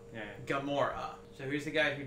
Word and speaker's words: Gamora: like um a Gamora we always said a gamra yeah yeah sure that's wrong now yeah sounds right but no it's wrong Gamora so who's the guy